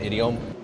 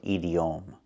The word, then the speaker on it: idiom: We cannot pronounce a word like this. We do not pronounce it edom. is pronounced differently.